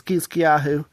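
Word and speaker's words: חזקיהו: I think the Hebrew pronunciation is Kiskyahu.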